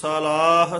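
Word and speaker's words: ਸਲਾਹੀ: की वडियाई सलाही सच सलाह सच य सलाही उच्चारण करना है साला कन्ना ला के नहीं बोलना सलाही सलाही सच सलाह सच सलाही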